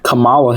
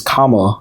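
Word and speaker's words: Kamala: It's not Camala Harris. It's Kamla, right?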